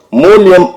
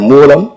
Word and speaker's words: மூலம்: அவர் பேசும்போது மூலயம் என்று மூலத்தை அவர் உச்சரித்தார் அப்படி உச்சரிக்கலாகாது தம்பி மூலியம் என்றால் நிமித்தம் என்று பொருள் இனி வரும் மேடைகளில் நீங்கள் மூலம் என்கிற சொல்லை சரியாக உச்சரிக்க வேண்டும் என்பதை ஒரு வேண்டுகோளாக நான்